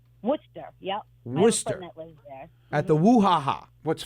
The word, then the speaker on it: Worcester: sauce or wish wish sir so it's called Worcester what yeah Worcester at the whoo haha what's funny is that's